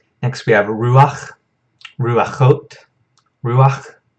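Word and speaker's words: רוח: Next we have ruach, ruachot, ruach. Notice this is a furtive patak right here, so it's pronounced before this chet, so it's not rucha, it's ruach.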